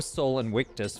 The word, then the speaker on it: Sol Invictus: sun the unconquerable sun Soul Invictus or soul and witness for those of you who prefer the classical pronunciation every year around Christmas